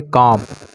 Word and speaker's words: comb: रखेंगे और इसको पढ़ेंगे कॉम, इसको पढ़ेंगे कॉम। कॉम मीन्स होता है कंघी, तो कुछ लोग इसको कॉम्ब कॉम्ब पढ़ते रहते हैं।